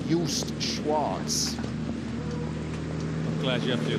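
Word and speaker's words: Joost Schwarz: scala from the netherlands and i'm going to pronounce his name correctly yust schwartz i'm glad you have to do the pronunciation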